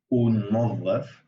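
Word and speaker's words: ننظف: But it just because it's like two ends, it's sort of, you can't really hear it, so it's unظف, so it just kind of gets fused.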